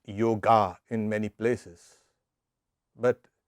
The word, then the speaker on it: yoga: of yoga now briefly yoga and i know it's pronounced yoga in many places but it's really yoga so it doesn't matter if it's getting it's an elongated ah it has two meanings